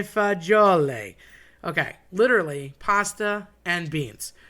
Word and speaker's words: fagioli: Um I've heard people say fazool, that's probably the most common. Um you know, I've heard uh people morph it every which way, but fagioli are beans.